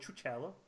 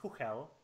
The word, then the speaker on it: Chuchel: I know that's really hard to pronounce, and I'm pretty sure everybody will call it Chuchel. But it's actually meant to be pronounced Huchel.